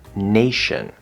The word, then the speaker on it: nation: the word chef also sometimes the letter t is pronounced with an sh sound like in the word nation so like i always